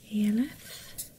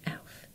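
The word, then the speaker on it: e.l.f.: I bought this from EF and I say EF because there are dots here so I can't help it but every time I say EF um someone says no it's pronounced. so elf.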